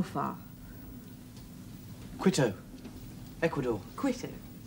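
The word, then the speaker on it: Quito: how far quto Ecuador quo that's how the natives pronounce it live my life there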